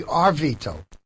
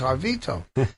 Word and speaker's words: Harvito: So I looked at the paper, and he calls me Arvito. So when I went up there, I said, thank you for putting my name in the paper, but you spelled my name wrong. It's Harvito.